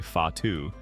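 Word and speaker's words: whatu: mari technique for cloak making watu pronounced roughly fatu relies entirely on the direct manipulation of threads by the weaver's fingers.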